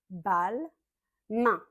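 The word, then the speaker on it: Balmain: V u v I vu i vuon avec le on on on comme dans bonjour on Louis vuon balin bal main comme la main un comme pain de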